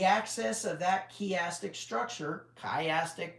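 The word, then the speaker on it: chiastic: The access of that kastic structure, kayastic might be the way to pronounce it.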